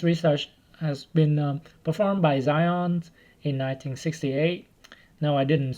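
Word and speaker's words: Zajonc: And this research has been performed by Zion in 1968. No, I didn't spell his name wrong. That's how it's spelled, and it's pronounced as Zion.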